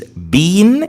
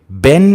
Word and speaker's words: been: and the Canadians, they pronounce it a bit shorter. They say ben. Even some British say ben as well. Right, so the bare infinitive or the base form of verb to be, form number 1, is be, be. And form number 3, which is the past participle of the verb be, is been in British English, ben in American English, and it's spelled B-E-E-N.